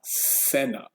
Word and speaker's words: cena: And then this is an S sound, of course. And then la cena. Ooh, la cena. Here I would write an S above the C. That'll help you remember how to pronounce it.